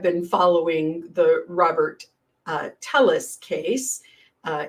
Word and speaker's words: Telles: following the Robert uh telis case uh he pronounces it tees I think and um that's a